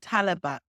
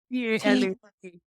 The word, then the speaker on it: Talabat: How do you spell it? The company that delivers it is called Talabat. So how and it's T-A-L-A-B-A-T.